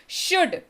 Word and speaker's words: should: 8वें number शब्द की बारी आपके सामने, दैट इज शुड। SHOULD इसकी स्पेलिंग, लेकिन उच्चारण L साइलेंट के साथ, शुड।